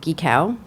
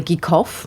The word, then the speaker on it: Gitko: My grandfather's first cousin was Ruth Gitko. Although my family pronounces it Geekow. It's really Geekhoff. It was changed at Ellis Island.